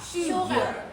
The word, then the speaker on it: sugar: เห็น มั้ A r มัน มี อar sugar suar sugar พูด พูด ตาม โอเค